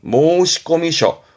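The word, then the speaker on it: 申込書: 요렇게 쓰게 되면 여기서 나오는 것이라 발음은 모시꺼미셔 모시꺼미셔 신청서를 주로 모시꺼미셔로 쓰게 됩니다.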